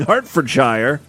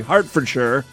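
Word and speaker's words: Hertfordshire: sorry Hartford sure so I always have trouble pronouncing like British areas with the word Shire I want to say higher right but then someone pointed out hey we do have a shire here in the United States New Hampshire and you pronounce it Hampshire so I'm gonna start pronouncing it sure yes she's from King's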